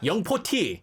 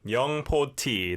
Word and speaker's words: 영포티: Uh in Korea we pronounce it young po tea, but in English it's young 40 and it originally was coined around 2015.